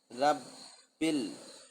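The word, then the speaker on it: رَبِّ: আবার বেল তাই না তাসদিদ থাকলে সেই হরফটা দুইবার উচ্চারিত হয় তাহলে বায়ের সাথে তাসদিদ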